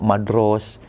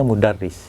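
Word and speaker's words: مدرس: Jadi nggak bisa dibaca madros atau apa, midros atau apapun lah gitu. Pasti dibacanya mudarris.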